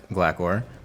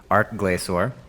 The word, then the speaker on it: Glacor: As far as test subjects, I only have 2 bosses that I test against, the Twin Furies and Glacor. I pronounced it wrong again. Glacor.